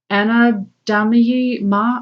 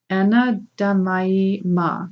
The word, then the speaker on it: Anandamayi Ma: Okay, the next card you got is Anadamayi Ma. I'm sorry, I butchered that name. Anadamaya Anandamayi Ma, the joy-permeated mother.